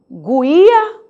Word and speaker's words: guia: Porque a pergunta surge, é guia ou guia? Olha aí, se você desconhece a palavra, como saberá pronunciar esse vocábulo? Guia, guia. Você não escuta a letra U porque não existe guia, existe guia.